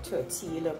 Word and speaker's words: tortilla: And bring in your tortilla pocket like that. So it is spelled Tortilla, but pronounced as Tortilla.